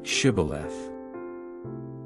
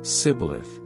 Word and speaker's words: Shibboleth: They would tell him to say, Shibboleth. If he was from Ephraim, he would say, Sibboleth, because people from Ephraim cannot pronounce the word correctly.